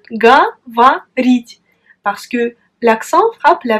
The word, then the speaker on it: говорить: Mais pourtant, on prononce говорить. Parce que l'accent frappe la voyelle I. Говорить. Et les deux O restent inaccentués. Et donc, on les prononce comme A.